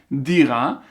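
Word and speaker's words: דירה: Même à l'écoute, quand on entend, regarde, dira, c'est di, ra.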